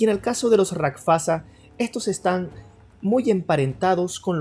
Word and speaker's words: Rakshasa: Se escribe Rakshasa, pero por lo que investigué, la verdadera pronunciación es Rakshasa.